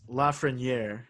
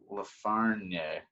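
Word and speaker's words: Lafrenière: I mean, it's Lafreniere. It's like French. He's Canadian. I totally thought it was like Lafreniere.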